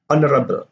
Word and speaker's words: honorable: So we have hour, 1 hour, an hour, honest, an honest person. You don't have the H sound here. Honorable, an honorable person.